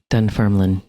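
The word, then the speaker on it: Dunfermline: and the Abby oh Alex you got to pronounce it for me again dun Ferlin duner there you go so yeah yeah and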